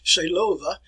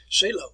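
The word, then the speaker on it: Seelöwe: it is known as if we put that in german it's operation cellova say love which i don't hold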